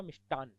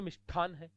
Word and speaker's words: मिष्ठान: जैसे थोड़ी देर पहले मैं कह रहा था मिष्टान, होता तो मिष्टान है, बोलते मिष्ठान है जोधपुर मिष्ठान भंडार, करणी जोधपुर मिष्ठान भंडार है, गणेश मिष्ठान भंडार, ऐसे मिष्ठान, जबकि होता क्या है तय, मिष्ठान।